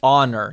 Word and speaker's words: honor: Well, so this one is literally honor. You don't pronounce the H, and then that is horror.